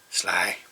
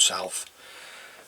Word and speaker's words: Sylph: So there you go guys, that's the gold sly, or Sylph, sorry, the gold Sylph. So, and basically how that is spelt is S-Y-L-P-H.